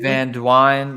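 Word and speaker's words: Van Duyn: Okay. Dwine? Van Dwine? Van Dwine. Yeah, I guess that's how you pronounce it.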